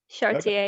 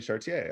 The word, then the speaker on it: Chartier: say your last name anything's good the french way is fine is that it chartier yeah remy chartier okay very good um